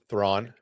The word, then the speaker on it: Thrawn: But there's definitely gonna be a name drop to somebody that rhymes with Dawn. That rhymes with what? With Dawn. Thrawn.